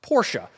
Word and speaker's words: Porsche: And yes, it's pronounced Porsche, because there are no silent letters in German.